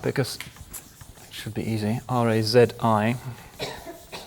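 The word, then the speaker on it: Razi: his name up because it should be easy R A zi R A zi in this part of the world he had a again a Latin name whether he knew it or not razes which they thought was easier to pronounce than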